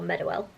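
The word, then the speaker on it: Meadowhall: center in Sheffield um I'm known more widely in Sheffield as meell um or Meow that's how I pronounce it I don't I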